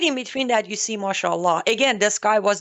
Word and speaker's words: Mashallah: And then he's got that Mashallah. Mashallah. Is that how you say it? Yes, mashallah.